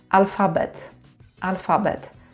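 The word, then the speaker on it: alfabet: Like "al-FA-bet", "FA" is the second syllable from the end. But in English it would be the first syllable.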